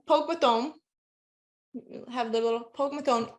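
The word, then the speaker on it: póg mo thóin: And the way you say it is, look at my van, it's Pogue Mahomes, Pogue Mathome.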